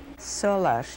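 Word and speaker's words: Solarz: is Salah what is your maiden name solash do you want me to spell it for you yes please s o l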